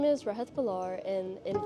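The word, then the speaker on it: Rehat Bhullar: My name is Rah Balar and in 5 years I hope to see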